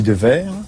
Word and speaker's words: Dewaere: Et j'ai mis un W à la place du V. Alors moi, je dis Devers.